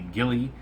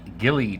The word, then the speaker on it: Gille: m and this is the Ghillie at least that's how I'm pronouncing it Gilly tank um very Innovative